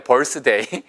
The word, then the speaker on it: birthday: 잘 모르시는 분들은 벌 쓰셔야 돼요. 벌스데이. 자, 그래서 birth, 탄생, day, 일. 탄생일이 바로 birthday. 그게 바로 생일이잖아요. 그래서 여러분이 익히 보신 단어예요. 단 발음이 birthday 아니고요. 보세요. birth, birthday. birthday. 그래서 차라리 birthday, birthday, birthday. 어디 birthday가 나타나서 birthday? 이렇게 발음하시니 더 알아듣기 쉽다고요. 원어민한테는.